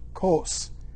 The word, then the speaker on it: Cos: with a straight course to cos that's pronounced long o not an u and the day followed